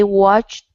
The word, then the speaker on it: watched: of watch it okay this ed will be pronounced like a t we say watched watched okay just like